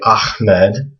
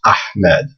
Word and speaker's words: Ahmed: it's not a so when you hear people say Ahmed they're actually pronouncing it wrong it's actually this letter that they're that they want to try to pronounce it's ahed so this again is